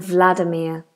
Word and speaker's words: Vladimir: would cover it today how do the Brits pronounce Russian names like Ivan and Vladimir there you go Ivan Ivan and Vladimir ok doie I'm going to carry on so